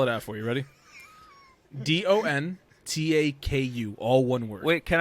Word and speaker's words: Dontaku: Because I keep hearing Dong Taco. Wrestling Dontaku. Dontaku.